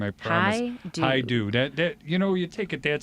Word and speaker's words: Hajdu: I'm gonna learn how to pronounce that name. I promise. Hajdu. That you take it that simple, it's easy. Hajdu.